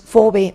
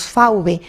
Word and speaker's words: fauve: Y un punto muy importante es que los fauvistas o fauvistas, que viene del francés fauve o nosotros pronunciaríamos fauve, pues fue un nombre